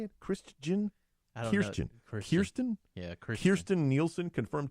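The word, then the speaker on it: Kirstjen: Kirsten.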